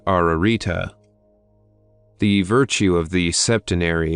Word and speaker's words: Ararita: a triple and double repetition this word is pronounced ararita the virtue of the septenary is absolute in